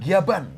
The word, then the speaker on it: Gavan: Kita nyebutnya Gaban karena kan orang Jepangnya bilang Giaban gitu kan. Jadi kita juga ngikutnya Gaban, ternyata ejaannya Gavan.